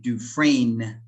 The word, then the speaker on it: Dufresne: As I'm sure you remember, this name is a French name. So we say Dufresne, we pronounce that as Dufresne because it's French, that's why.